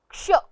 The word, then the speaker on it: क्ष: यह व्यंजन दो अक्षरों के मेल से बना है। पहला अक्षर है क और दूसरा अक्षर है श षटकोण वाला। इस व्यंजन में क का स्वर बहुत हल्के से लिया जाएगा और श का स्वर बहुत जोर देकर लिया जाएगा और इस तरह से इसका उच्चारण बन जाता है क्ष।